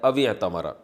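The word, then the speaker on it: اعتمر: अलिफ साइलेंट हो जाता है। अतमरा बस जो भी बैतुल्लाह का हज करेगा या उमरा करेगा फलाना अल उस पर कोई गुनाह नहीं है।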